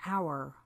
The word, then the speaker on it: hour: For example, the sometimes silent H in our or honest.